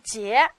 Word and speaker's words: 捷: 这个字念捷，快捷便捷的捷，怎么记？